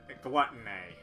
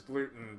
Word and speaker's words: glutton: Is glutton. It's Anyway, I I I mispronounced it as gluten.